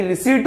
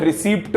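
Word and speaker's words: receipt: पता है कि रिसीट बोलते हैं, फ्लो में रिसीप्ट बोल देता हूं।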